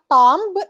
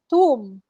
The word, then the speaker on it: tomb: let me read it it's not tom it's tomb you don't say the